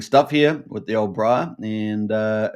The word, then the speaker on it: Briah: some really interesting stuff here with the old Briar and uh, it's a good chance. Now, back in the day, uh, Rak Michelle was talking about making Brier, which Bria, I should say.